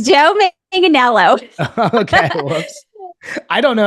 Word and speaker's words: Manganiello: But I hope I'm pronouncing this right. Joe Magnaniolo. Is that how you pronounce it? No, it's Joe Manganiello.